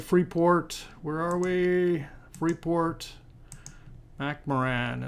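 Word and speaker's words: Freeport-McMoRan: Port where are we free port macaran is how I pronounce it and uh where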